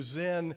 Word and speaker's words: Zin: From the wilderness of Zin, our Jewish friends, pronounce the Hebrew Zin.